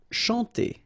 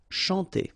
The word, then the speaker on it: chanter: Chanter. Okay, remember, C and H here, sh, and then A-N, nasal, en. Chanter.